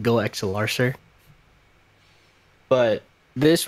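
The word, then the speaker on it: GoXLR: Goxler. Goxler. It's pronounced Go XLR, sir.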